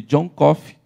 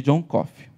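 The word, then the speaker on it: Coffey: conta a história de john coffee que apesar de falar como café não se escreve igual a conta a história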